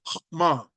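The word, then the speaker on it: חכמה: And I'll repeat that word because probably you probably didn't pick it up. It's pronounced hokmah.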